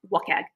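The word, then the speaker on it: WCAG: So when you build something that is accessible um a lot of people look at um web content accessibility guidelines which I I pronounce wagg you know.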